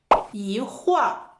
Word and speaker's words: 一会儿: 一会儿yì huǐ-er 口语中也会读作一会儿 In spoken language, it can also be pronounced as yí huì-er 也是指很短的时间内refers to a short period of time 比如，我一会儿就回来了。For example, "我一会儿就回来了" (wǒ yì huǐ-er jiù huílái le) means